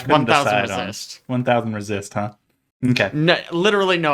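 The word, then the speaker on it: 1000xRESIST: I think the besties talked about this, that it's like Hunter x Hunter. You don't say the X. Yeah, So I it's couldn't 1000 decide on Resist. 1000 Resist, huh?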